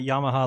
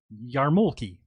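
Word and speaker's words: yarmulke: know how to spell it's not Yamaha like the keyboard it's yarmi yeah yeah but if I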